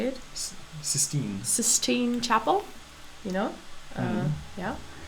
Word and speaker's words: Sistine: What is the difference between the paintings of, let's say, I don't know, the naked women in the 16th Chapel? Is that how you say it? Sistine.